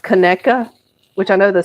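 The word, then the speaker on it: Conecuh: So, that's how you It's pronounced Kka, which I know the spelling is really confusing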